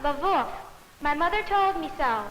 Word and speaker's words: Lwów: L-W-O-W, Lwów. Teddy, perhaps there's someone in the room whose people came from Poland who could pronounce that word for us. It's pronounced Lwów.